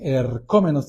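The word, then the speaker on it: ἐρχόμενος: es el griego Jo eromenos ercom menos Perdón eromenos tiene acento en la o el que está llegando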